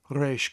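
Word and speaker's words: ריש: So it's A with a yod, A with a yod, and then the sh sound on the sheen makes it reish.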